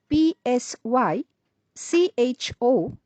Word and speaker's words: psycho: let's move on to the next word which is spelled p s y c h o and is pronounced as psycho psycho is a